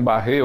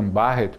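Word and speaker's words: Barrett: que se pronuncia sim alguns dizem barrer outros dizem barret mas na realidade qualquer qualquer uma das duas formas é válida mas Dr pata O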